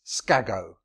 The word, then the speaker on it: Skag: So it says Skago. And Bactrian, the final O's are not normally pronounced, so it's, his name is Skag.